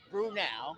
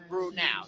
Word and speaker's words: Brenau: especially Golden Tigers fans, what is the correct pronunciation of Brenau? Now, I get Brenau. Thank you, Ms. McClendon. Cindy Cannon say Brenau, N-A-U. So Brenau, Brenau, okay. So there is no such thing as Brenau, like nah.